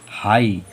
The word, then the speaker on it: high: तो जीएच अंत में आया तो इसे पढ़ेंगे हाई।